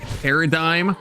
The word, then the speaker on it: paradigm: it's similar to like like paradigm, how it's like a silent G, but then if you make it an adjective it becomes paradigmatic, not like paradigmatic.